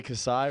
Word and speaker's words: Kasai: Jay Kasai, right? That's how you pronounce it?